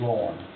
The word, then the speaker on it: Lauren: Also move, don't mean to correct her, she pronounces her name Lauren. just like a man's got.